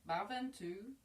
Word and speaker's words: Bhaventu: It's may everybody, and the but is spelt BH, so it's very aspirated but that increases that you know, that command.